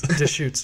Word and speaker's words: Deschutes: I'm surprised and impressed that you pronounced that word correctly. Ducks? No. Shoots. No. Shoots? Deschutes.